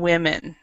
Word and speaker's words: women: that the pronunciation yeah woman yeah woman and women the pronunciation woman women